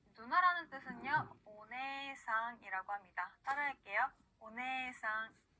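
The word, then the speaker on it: おねえさん: 자, 이번에는요, 에단 뒤에 에가 올 때, 그리고 에단 뒤에 이가 올 때도 에 발음을 그대로 늘려주는데요. 자, 언니, 누나라는 뜻은요, 오네상이라고 합니다. 따라할게요. 오네상.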